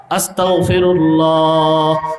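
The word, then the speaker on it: أستغفر الله: না অনেকে পড়ে আস্তাগফিরুল্লাহ মনে রাখতে হবেশব্দ হল গ দিয়া। বাংলা উচ্চারণ কি দিয়া? গ দিয়া। আস্তাগফিরুল্লাহ। আস্তাগফিরুল্লাহ। এখন কেউ যদি ক উচ্চারণ করে আস্তাগফিরুল্লাহ। এর অর্থ হবে আল্লাহ আপনারে অস্বীকার করতে চাই।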